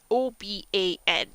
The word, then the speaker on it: Oban: O-B-A-N. I'm from Oban. It's pronounced Oban.